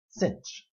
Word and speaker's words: sinh: and doesn't that look familiar it's written above me as cinch or the hyperbolic sine so the derivative of